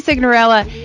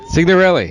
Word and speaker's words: Signorelli: So for our next guest, Signorella. Did I say it right? Signorelli? Signorelli.